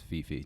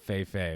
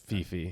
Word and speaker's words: Fifi: I just want to pronounce Fifi, just in case he's listening to this. Oh, it's not. Yeah, it's not Fei Fei with Nicki Minaj. Fifi.